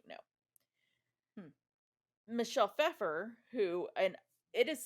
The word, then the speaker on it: Pfeffer: Michelle Pfeffer, who and it is spelled Michelle. It's Michelle Pfeiffer without the I. Oh, okay. So Pfeffer. Yeah. It's German for Pfeffer, yeah.